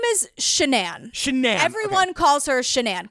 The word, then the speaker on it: Shanann: It's not spelled like Shannon, right? But everyone else says Shanann. So I even wrote it not like Shannon because I was like, ADHD brain. You're going to say, you have to write it phonetically. So I'm going to go with Shanann because that's what, it's weird because it's what everyone calls her.